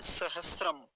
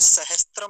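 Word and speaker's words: सहस्र: संस्कृत में बोलते हैं सहसम अब हमारे यहां ऐसा प्रचलन पता नहीं कहां से हो गया यह सहसम को हमने सहस्त्र बोलना शुरू कर दिया सहस्त्र और वह किस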